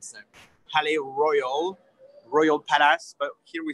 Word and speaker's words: Palais Royal: So I'm going to film the name because we pronounce it with our French accent. So Palais Royal, Royal Palace, but here we say Le Palais Royal.